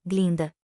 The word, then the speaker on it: Glinda: as boas-vindas a x Glinda Este é o seu primeiro ano por favor é G linda a pronúncia correta do antigo gilquin Se